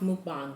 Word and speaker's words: mukbang: said it's mukbang that's how it's pronounced it's pronounced mukbang but whatever works for you it is what